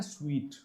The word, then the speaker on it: suite: दोस्तों इसको बोलते हैं स्वीट।